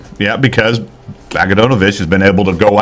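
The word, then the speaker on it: Bogdanović: a sudden Oladipo would turn it on, or Bogdanovich, however you pronounce his name. Tell me about I can't pronounce Bogdanovich. It. It's Bogdanovich is what his last name is.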